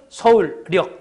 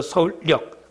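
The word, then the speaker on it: 서울역: 서울력. 이거는 표준 발음법 29항이니까 니은음이 더 붙여져서 니은이 첨가됐지. 그렇지? 그래서 서울력.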